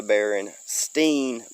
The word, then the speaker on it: Berenstain: way it was spelt i always wanted to say stein and we used to